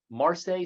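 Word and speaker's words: Marcé: Winner of several awards as well, including the Early Career Award from the International Marseille Society. Did I pronounce that right? Yes. You did. Marseille Society for Perinatal Mental Health and several other awards.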